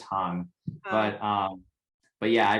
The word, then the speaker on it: Hang: a hang drum but it's actually called the hang so it's like a long a hung and there's no drum on the end of it it's just hung but um but yeah